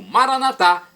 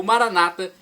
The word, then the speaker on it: Maranata: de Jesus eu clamo Maranata como dizemos nós católicos com a tônica na última sílaba o Maranata como dizem nossos irmãos separados os evangélicos ou protestantes não importa pronúncia significa